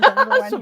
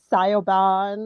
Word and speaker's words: Siobhan: Yeah, Siobhan, Siobhan, that's always a tricky one. People get Sioban or whatever, right, with Siobhan.